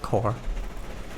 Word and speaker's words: Corps: Or Corps, rather, because that type of spelling for corpse is actually pronounced core.